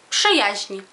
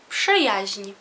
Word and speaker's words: Przyjaźń: Przyjaźń. Przyjaźń. Przyjaźń. P-sz-y-a-ź-ń. Przyjaźń.